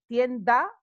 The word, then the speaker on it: tienda: Remember that in Spanish you actually pronounce every letter, and the vowels are always the same. They always sound the same. So you don't need to worry about this a or a. No, tienda, the a is always the same.